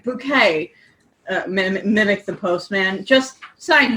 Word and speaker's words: Bucket: "Package for a Hyacinth bucket," said the postman, reading his clipboard as Hyacinth opened the door. "It's pronounced bouquet," sang Hyacinth.